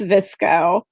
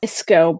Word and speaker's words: VSCO: described came up so I'm assuming it's visco yes like visco but with V all right anyway so